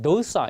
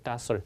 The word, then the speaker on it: docile: 발음이 docile 이렇게 발음하는 사람도 있고 docile. 우리 사전에 보면 발음이 두 개로 표시되어 있는 경우 있잖아요.